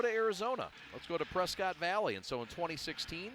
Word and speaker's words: Prescott: after about 10 years they said let's go to arizona let's go to prescott valley and so in 2016 it was the northern arizona suns the arizonians pronounce it prescott oh okay my bad i know i had